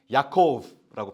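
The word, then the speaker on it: יעקב: 어 야곱은 사실 히브리어로 비슷하 제가 좀 비슷하게 발음을 하면 야코브라고 발음을 하거든요.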